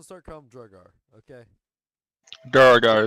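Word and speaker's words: Duergar: Duragar is what they're called.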